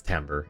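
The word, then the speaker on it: timbre: Yeah, it's tambber. It's a musical term. Uh I don't know why it's spelled that way and pronounced that way, but it it just is.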